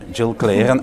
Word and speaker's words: Gill Cleeren: yourself of course so my name is Jill Claren actually that's the correct pronunciation um so I'm indeed